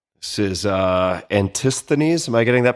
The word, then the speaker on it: Antisthenes: This is uh Antisthenes. Am I getting that pronunciation right?